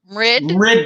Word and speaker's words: Mrid: Mrid. Like grid.